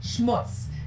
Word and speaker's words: Schmutz: And last but not least, the final word on my list is schmutz. This one is pronounced and used the same way in both languages, and it means dirt.